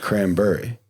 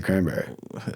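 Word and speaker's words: Cranbury: they go cranberries there it's not actually spelled that way it's a berry like danbury connecticut so it's actually cranberry you know but you pronounce it cranberry why did we even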